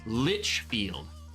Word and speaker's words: Lichfield: know I'm thinking lickfield don't pronounce the T in lickfield so it's Lichfield I'm trying to sound